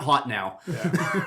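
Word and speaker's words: Hotenow: a volcano yeah mount hot now really i i choose to believe that's haute now it probably is but it is spelt hot enough yeah h-o-t-e-n-o-w yeah that's hot now someone else wanted to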